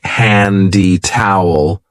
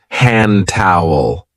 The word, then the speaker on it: hand towel: And be careful of the pronunciation. We don't usually say handy towel. We link it and we say hand towel.